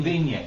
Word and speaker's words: Vigne: you pronounce it, Ken? It's Vigne. Vigne.